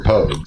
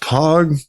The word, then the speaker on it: Pogue: I mean, both of you were Pogues, so it doesn't really matter. I believe it's pronounced Pog. Pogues. It's pronounced Pogue.